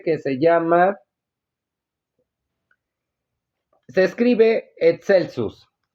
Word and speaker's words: excelsus: Araucaria excelsus. Araucaria excelsus. Recordemos que se pronuncia como e y k, que no lo traduce como alto o más alto.